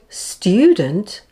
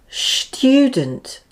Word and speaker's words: student: air to pass through some people in the UK are quite lazy with this sounds and say instead for example the word student becomes student it's a lazy tongue so this is not